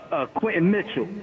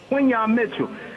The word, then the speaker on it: Quinyon Mitchell: and if he's doing that just gave me visions of Quentin Mitchell. How did I say his name right? Quinyon. Quinyon Mitchell.